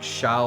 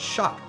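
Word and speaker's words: Shough: I I was sitting there calling like the Saints quarterback like Shiao or something. Then I I was watching NFL Network and talking about them and they said Shuck? I was like, "What? That's how you pronounced it the whole time?"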